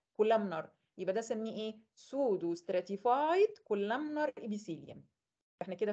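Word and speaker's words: pseudo: كلمه كاذب في الطب اسمها سودو، البي دي ما بتتنطقش، يبقى سودو.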